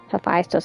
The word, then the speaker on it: Hephaestus: Hephaestus. I've been pronouncing it wrong this entire time.